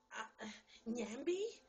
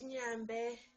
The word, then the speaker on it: Nyambe: Nyambe? Nyambi? No, I said it's Nyambe. And it's like with the N and the Y.